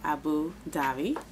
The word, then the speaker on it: Abu Dhabi: matte Lip Cream in Abu Dubai Abu Davi Abu Dhabi y'all remember this from before when I couldn't didn't want to pronounce it but I was informed that I pronounced it right Abu Davi and it's the Nyx